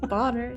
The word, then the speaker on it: Bonner: It's pronounced Bonner. It's German. Boner. God damn it. You're all I have some of fired. those in my family. It has an E in it. That's how you know to pronounce it differently.